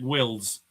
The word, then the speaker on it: Wills: It's Jedric Wills. Yes, Wills. Not Willis, not Wils. It's Wills.